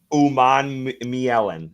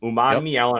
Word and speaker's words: Umanmielen: down in the Google Doc so I would pronounce this guy's name right. So it's Princely Umanmielen. Umanmielen.